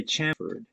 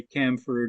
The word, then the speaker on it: chamfered: Americans mostly say chamfered. Oh, is it It may be Chamford? that the Okay. British say camfered and we say chamfered.